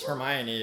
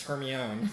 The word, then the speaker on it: Hermione: We listened to our mom read us Harry Potter before bed and mispronounce Hermione as her own.